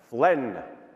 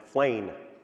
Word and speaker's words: Flen: Extra credit if you learn how to pronounce this correctly. Flen. It is not as my American alter ego pronounces it, Flane. Flen.